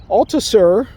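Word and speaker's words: Althusser: cultural analysis ideology was altasur alta sir alta sir that's how you pronounce his last name he had a theory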